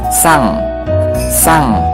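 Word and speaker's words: さん: Sang Misalkan siapa ya, misalkan Naruto sang, Luffy sang. Nah itu kan pakai eng ya, walaupun tulisannya san tapi dibacanya eng ya.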